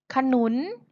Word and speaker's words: ขนุน: ไม่ ประวิสรรชนีย์ ค่ะ มี ขนุน เห็น ไหม คะ ขนุน ไม่ ประวิสรรชนีย์ เพราะ เวลา เรา เขียน เรา ไม่ เขียน รูป สระ อะ ใช่ ไหม คะ แต่ เรา อ่าน ออก เสียง สระ อะ ค่ะ โน้ ท ก็